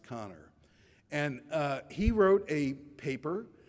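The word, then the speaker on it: Kanner: Hopkins Hospital namely O'Connor it looks like caner but it's pronounced connor and he wrote a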